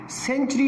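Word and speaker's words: century: अब देखें, जैसे हम कहते हैं सेंचुरी, सदी, अब सेंचुरी में C के बाद E अल्फ़ाबेट इस्तेमाल हो रहा है, तो इसमें से सा का साउंड यानी सीन की आवाज़ निकली है उसमें से, सेंचुरी।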